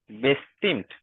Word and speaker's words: bestimmt: বেস্টিমেন্ট bestimmt, bestimmt আমার সাথে উচ্চারণ করেন।